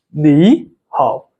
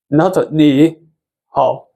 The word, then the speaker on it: 你好: So it will pronounce as 你好, 你好, okay? Not 你好.